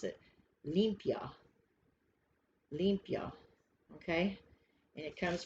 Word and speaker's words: limpia: say it if you're going to pronounce it pronounce it limpia olympia okay and it comes from mexico and